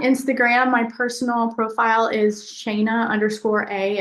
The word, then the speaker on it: Shana: My personal profile is Shana_A. It's spelled like Dana, so SHANA_A.